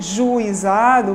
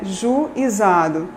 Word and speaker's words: juizado: Há falantes que produzem, que dizem juizado, produzindo hiato, Então, seria juizado. Há outros grupos que produzem um ditongo decrescente, E dizem juizado.